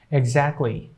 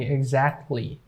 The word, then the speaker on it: exactly: Exactly. It's not going to be exactly. It will be exactly.